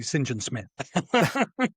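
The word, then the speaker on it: St John Smythe: John is pronounced singing as a as a surname. So, he should be properly singing Smith.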